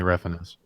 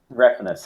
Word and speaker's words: Refenes: It's Tommy Refenes. Refenes. Yeah, it's the whitest way possible to pronounce it.